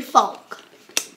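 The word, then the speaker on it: Faulk: Say it out loud. Folk. And spell it? F-A-U-L-K. That's how you spell Folk.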